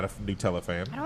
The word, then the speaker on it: Nutella: We didn't do the bang toast only because I know you're not a Nutella fan. I don't like Nutella. See, so Nutella, not Nutella. No, Nutella.